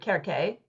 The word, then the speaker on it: Circe: to say your name so I say Cersei um before meline Miller's book came out I always called her K which is like the Greek way to say her name in English but I so I